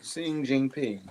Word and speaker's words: Xi Jinping: So China, President, how you pronounce his name? Xi Jinping? Yeah. Oh, yeah. Xi Jinping.